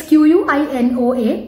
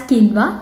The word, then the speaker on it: quinoa: It's Q-U-I-N-O-A, pronounced as quinoa, not quinoa.